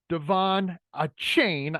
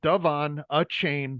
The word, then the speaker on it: De'Von Achane: to get into uh Devon a chain I believe is how you pronounce the name Devon a chain number 28 running back